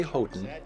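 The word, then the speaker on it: Houghton: Arizona public media go with the family's preferred pronunciation which is hoton boy I'm not sure I've ever heard that we say hoton because the family the hoton family which is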